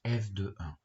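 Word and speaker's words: f(1): L'image de 1 par la fonction f ça va s'écrire comme ici f entre parenthèses 1 et ça se prononce f de 1.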